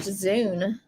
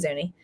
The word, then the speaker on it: Zuni: definition of zoo actually it looks like it's pronounced zune instead of zuni if i'm reading the pronunciation thing right let me actually let me just zuni oh no it is zuni a member of pueblo